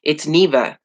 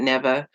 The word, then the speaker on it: Neva: It's Neva, and they pronounce it Neva, or they add a J and it's Geneva, or they leave the N off and it's Eva.